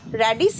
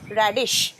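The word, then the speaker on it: radish: আচ্ছা এরপর মূল মূলর কি ইংরেজি রেডিশ এর উচ্চারণটা স তালবস রেডিস নয় রেডিশ মোম বলে দেন একবার রেডিশ রেডিশ রেডিশ ইজ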